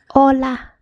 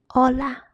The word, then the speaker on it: hola: The letter is pronounced as a and in the actual words it's silent. It's silent. For example, hola. Ola, which means hello.